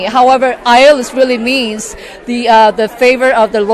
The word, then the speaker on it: Ieolus: It is Ieolus. The E is for entertainment. Oh, is that and it is? You just it's a silent E. However, Ieolus really means the favor